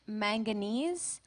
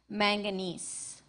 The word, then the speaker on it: manganese: Your word has two pronunciations, manganese, manganese.